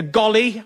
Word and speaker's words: golly: people prefer you to call it a golly uh the W is silent like our shame and